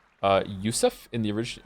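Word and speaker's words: יוסף: Since we're talking about having many names, the name Joseph is pronounced uh Ysef in the original in its original Hebrew form.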